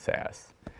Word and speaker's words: SAS: sean berry from sas which i believe is pronounced sass so welcome to all